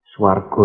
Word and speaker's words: swargo: Swargo itu adalah pengucapan swarga dalam bahasa Sanskerta dengan lafal Jawa.